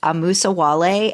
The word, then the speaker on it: amusawale: The first one up is Anne-Marie, who on Discord, it's pronounced amusawale, and I was kind of thinking like moose, so amusawale, who is